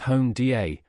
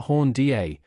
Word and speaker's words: Honda: Honda was, like Walt, the creative force behind Honda, properly pronounced Honda, not Honda, directing its engineering and product development functions.